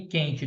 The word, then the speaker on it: quente: que o queijo dígrafo querida Quitanda e quente todos são dígrafos porque eu não consegu consegui escutar o som do U tá bom guitarra guerra